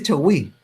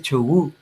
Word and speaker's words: chogüí: Bueno, no se dice chogüí, ¿verdad? Entonces suena re feo en realidad. Ahora a mí también me suena así, suena re feo cuando lo cantan chileno, porque la I se pronuncia, la Y se pronuncia U. Entonces chogú, chogú. Yo no lo puedo pronunciar. Si me escucha mi señora me va a retar. Pero es chogú.